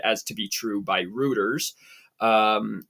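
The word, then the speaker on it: Reuters: to be true by rooters um or maybe I'm not pronouncing them right but I'm almost sure it's routers or rooters it's rooters are rs it's rter um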